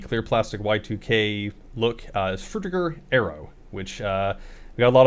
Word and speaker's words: Frutiger Aero: I think we settled on Frutiger Aero. I was debating whether it was like Frutiger or something like that, but we're going with Frutiger Aero.